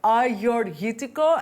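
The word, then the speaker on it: Agiorgitiko: Learn how to say it, Agiorghitiko, and I've always loved a little trick, which is Agiorghitiko.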